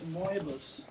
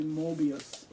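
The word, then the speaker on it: Möbius: I think it's Moebius. Some people say Mobius, but I think they're pronouncing it wrong.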